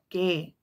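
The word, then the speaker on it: γῆ: Greek word for Earth is G or it's pronounced gay g h a y um it means o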